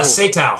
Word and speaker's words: Satow: Is that how you say his name? Sato? Satow. Satow.